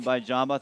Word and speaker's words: Vimbai Jhamba: So, and joining us now, the lady who just landed, Vimbai Jhamba. Did I pronounce that correctly? All right, not Fantastic. bad. Vimbai Jhamba.